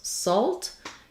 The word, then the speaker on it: salt: Salt, you're going to have that letter L really affecting how you say that vowel sound. So you're still going to be in the salt, but not open, salt. So you're going to have that letter L is really going to affect how you're saying that vowel. And more importantly, salt, one syllable.